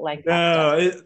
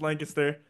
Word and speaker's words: Lancaster: So is that how you say it, Lancaster, or is it Lancaster? No, this is a giant debate around here. Yeah. It's Lancaster, like very short.